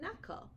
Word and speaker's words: knuckle: not Knight knife and knuckle now in all of those words they all begin with K but we don't hear a sound at the beginning we only hear that